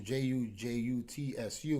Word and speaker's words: jutsu: And that's what fascinates me, because in the classical Jiu Jitsu, Jutsu, which is what it was spelled like and correct and pronounced, the real stand-up samurai was like that.